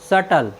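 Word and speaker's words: subtle: बी टी एल ई सटल सटल मीस होता है जटिल साथि यहां पर भी आप देखते हैं कि बी टी के पहले आया है इसलिए हमने बी का उच्चारण नहीं किया है साथियों यदि आपको हमारी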